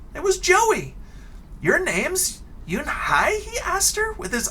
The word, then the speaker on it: Unhei: customer turning around it was joey your name's yoon hi he asked her with his eyes open you and i looked quickly at mr kim and then turned to joey she nodded slowly yes it's pronounced yoon hi and it means grace mr kim added you